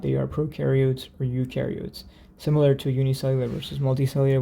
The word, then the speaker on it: eukaryotes: eukaryotes so u oops eu kind of rhymes with yes right so you yes it has that y sound you yes so here